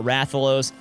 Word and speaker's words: Rathalos: lot of monsters wrong I always called him Rafe vo it's not rathalos and then Raytheon I